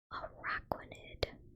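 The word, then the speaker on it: Araquanid: I've been pronouncing this one wrong. Araquinid water bubble Pokemon type water bug.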